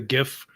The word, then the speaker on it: GIF: the acronym like what it's a hard G stands for graphic right right right right